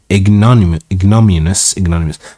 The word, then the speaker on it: ignominious: The treasurer and admiral insisted that you should be put to the most painful and ignominious. I remember I read this last night, or I don't remember how it's pronounced, so I'm gonna Ignominious.